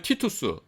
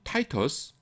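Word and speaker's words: Titus: 70년에 로마의 티투스, 라틴어로는 티투스고요, 영어로는 타이터스, 그 다음에 우리말로는 디도 장군이라고 합니다.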